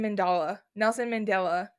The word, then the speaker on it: Mandela: Nelson Mandela.